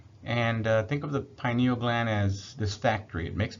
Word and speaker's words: pineal gland: let's talk about the pineal gland the next block the pineal gland or pineal gland is the way it's supposed to be pronounced it's a another small